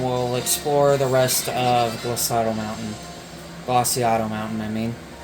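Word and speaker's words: Glaseado: That's actually how you say it, is Glaciato. I've been saying it wrong for so long, and yeah, it took me a long time to realize that it's Glaciato Mountain.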